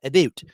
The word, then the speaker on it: about: Betsy Palmer talking about that's Canadian uh pronunciation or anunciation of the word about abot playing Pam lores and